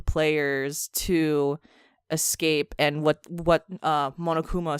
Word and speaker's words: Monokuma: It's like Momofuka or something like that, but I feel like that's wrong. I think I butchered it. I'm sorry, everyone. But okay. Monokuma.